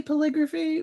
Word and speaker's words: polygraphy: I say polygraphy, but maybe that's just because it rhymes with calligraphy.